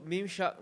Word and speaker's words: Mimshach: Okay, you pronounced it correctly the second time. Yeah, so Mimshach means spread and growth in Hebrew.